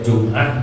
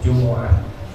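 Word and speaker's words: الجمعة: Itu syarat imam harus mukallaf idza kana imamal jumu'ati, dibacanya jumu'ah, boleh jum'ah, boleh jumu'ah. Tapi yang afshah, yang fasihah itu dibacanya jumu'ah bidhammil mim.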